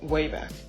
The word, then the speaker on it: WABAC: Peabody created a time-traveling machine called the WABAC, pronounced WABAC.